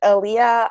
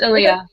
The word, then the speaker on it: Ilia: I think I think your name's Elia I don't want to be butchering your name I'm really sorry if I did that's my sister okay how do you pronounce her name Ilia it's Ilia Ilia Okay so she said